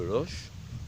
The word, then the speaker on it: Loches: on prononce le S ah quand on écrit loche on met le S mais on l'entend pas mais par contre la traditionnelle de l'oche faut prononcer le S